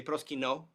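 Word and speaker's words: προσκυνέω: The most common term is proskyneo. Typically you would say proskyno in Greek. You would contract those 2 final vowels into an omega with a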